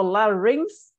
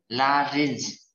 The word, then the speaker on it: larynx: So the only difference is that instead of the G, it's an X. So larynx and laryng is a little bit of different in pronunciation.